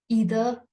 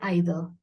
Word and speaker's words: either: When a sentence has or, neither, either, by the way, these words can be pronounced as neither or neither, either or either. Both pronunciations are absolutely right.